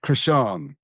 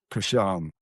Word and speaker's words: Christian: I have it's actually a Swedish name, Christian, Okay. pronounced differently, slightly. Is it? How's it pronounced? Krishan. There we go. Yeah, One more time. Krishan.